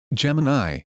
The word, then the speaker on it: Gemini: This is its interface as I'll do besides it for co-pilot and for Gemini. And I said I know they're pronounced co-pilot Gemini.